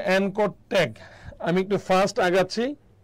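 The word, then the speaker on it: anchor: হচ্ছে এই ট্যাগ এনকর এটার উচ্চারণটা হচ্ছে এনকর ট্যাগ আমি একটু ফাস্ট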